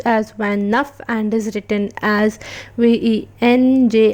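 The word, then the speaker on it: vingt-neuf: 29, which is pronounced as Van Nuff and is written as VENJ ashte NAUF.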